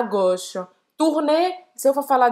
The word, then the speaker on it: gauche: Tourner à gauche. Esquerda, gauche, tourner à gauche. Tourner à gauche. À gauche. Então, aqui o som de A, U, tem o som de O.